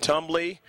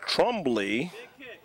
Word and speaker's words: Trumbly: If I mentioned Tumbly, should have called it Trumbly. So Sandra Trumbly. Proper pronunciation on the last name.